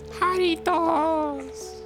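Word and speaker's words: Jarritos: You're mispronouncing it, Ben. It's Haritos. You got to do the little screech.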